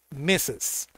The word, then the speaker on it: Mrs: Cruise mrs Cruise es cuando usamos El M r s m RS mes así lo vamos a pronunciar pronunciation mes meses y de acuerdo a